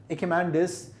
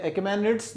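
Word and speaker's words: Achaemenids: अब क्या होगा, ईरान का जो राजा है जिसका नाम है एकेमेंडिस, ठीक है। सो ये एकेमेनिड्स जो है, एकेमेंडिस कुछ भी दोनों कह सकते हैं, दोनों प्रोनाउंसिएशन इसके सही हैं।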